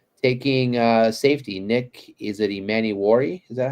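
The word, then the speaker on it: Emmanwori: Nick, is it Emmanuel? Is that how you pronounce it? Emmanuel, yes.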